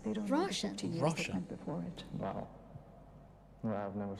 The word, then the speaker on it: Roshan: Not Roshan. Roshan.